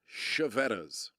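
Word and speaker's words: Chiavetta's: But anyway, so Sean, the third item, that is the way that's pronounced is Chevettas.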